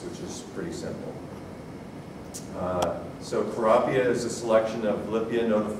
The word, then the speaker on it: Kurapia: breeder and Libya so if you're wondering why is this such a difficult name to pronounce just think of the word tilapia and say probably it's sterile and